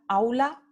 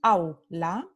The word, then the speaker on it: aula: au, eu, ou, you, como la palabra aula, classroom, tenemos aula. Entonces, au forman una sílaba aquí y la vocal completa o pura está en primera posición, la semivocal está en segunda posición, entonces es una sílaba, es un diptongo decreciente.